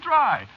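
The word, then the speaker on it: Drei: No, you see, it's a German name. Is it? Yeah, sure. Spelled D-R-E-I.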